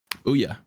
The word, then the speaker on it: Ouya: DPS, Molan Ron, Crystal, Support, Hybe, and it's Ouya, right? Ouya. Like oolong.